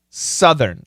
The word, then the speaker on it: Southern: that R Northern California Southern it's a short use Southern Southern California and